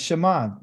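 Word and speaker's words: שמע: That's Shema. This is silent.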